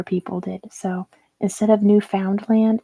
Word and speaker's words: Newfoundland: It's just pronounced Newfoundland. It's a British thing.